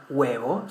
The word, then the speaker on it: huevo: For example, the most common example, the letter H, we say huevo, so it's as if it wasn't there, If we spell the word